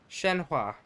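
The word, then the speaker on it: Shenhe: Shenhua.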